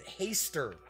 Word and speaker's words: Hastur: Cthulhu and Hastur right I think some people pronounce it hey stirred but I've always heard it a stir so that is on